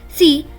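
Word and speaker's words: С: is similar as well it looks like an English C but is pronounced as s s and it is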